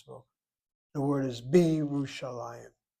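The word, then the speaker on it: ירושלים: The word is Bi Yerushalayim, not Bi Yerushalayim, Bi Yerushalayim. So when they say Lehana Haba Beirut, how do they say it? Next year in Jerusalem. Oh, Jerusalem by itself is Yerushalayim.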